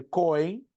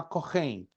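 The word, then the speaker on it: כהן: apostila vem do hebraico corem corem a pronúncia é se escreve coem mas se pronuncia corem significa sacrificador essa palavra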